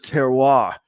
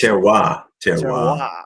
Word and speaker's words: terroir: I'm going to screw it up how to pronounce it. That word is terroir, Terroir.